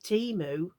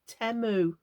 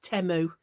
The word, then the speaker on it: Temu: I'd been calling it Teemu but they pronounce it temu like temper or temperature like e rather than e so it's temo apparently anyway um yeah